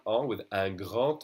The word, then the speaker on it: grand: As I said earlier, the last consonants of words are silent. And here this word would be grand. If I pronounce it alone, it's grand. And this is the word enfant. We don't say the T, we don't say the D.